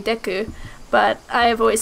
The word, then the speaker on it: Deku: ways okay um and it's actually in Japanese it would be Deku but I've always said diku because I am a